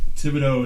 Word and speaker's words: Thibodeaux: Can you pronounce it? You need help? Sound it out. Fucking A. Thibodeaux.